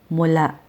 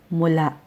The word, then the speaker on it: mula: equivalent of mula mula mula has a final glottal stop so as a single word It's correct pronunciation is mula mula but if it's immediately